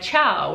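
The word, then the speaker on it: ciao: that's following it so if a c is followed by an iron e it is a cha sound like chao which is spelled c i a o and so we pronounce the c as a cha like cheers in english now if a c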